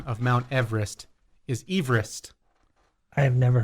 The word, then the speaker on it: Everest: The correct pronunciation of Mount Everest is Everest. I have never heard that. It's named after Sir George Everest, a surveyor from Wales, and that's how his last name was pronounced. Everest. Everest.